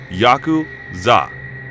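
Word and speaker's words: ヤクザ: cards to draw are eight nine and three pronounce yaku Za in Japanese the implication being that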